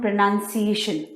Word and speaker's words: pronunciation: Many of us usually write the spelling as P-R-O-N-O-U-N-C-I-A-T-I-O-N, pronunciation. That's why we tend to pronounce it like this. But the correct spelling is P-R-O-N-U-N-C-I-A-T-I-O-N. We say this word as pronunciation. So we have to pronounce it as pronunciation.